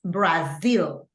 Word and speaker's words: Brazil: it in English Okay and remember that the pronunciation is Brazil okay the only two things I have to